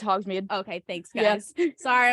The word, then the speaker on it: Hogsmeade: Is that how you pronounce Yeah, it? it's Hogsmeade.